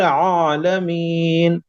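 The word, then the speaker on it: العالمين: अल्हम्दुलिल्लाहि रब्बिल आलमीन। अर्रहमान आलमीन, आइन निकल।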